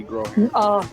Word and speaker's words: Groharing: a freshman at Byron Macy groan that's how you pronounce her name yeah love She's special